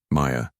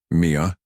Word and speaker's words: Maya: The barista called her name, mispronouncing it, Mia. She didn't bother correcting him. Her phone buzzed. A message from a recruiter she'd known for years. Hey Maya, just a heads up.